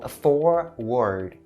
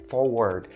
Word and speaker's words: forward: So "forward" not only it has the sound as is vowel and it also has the /d/ sound to end the whole word, so "forward" for word and a lot of people would probably mistake it for the south and say "forword" don't ever say it like that.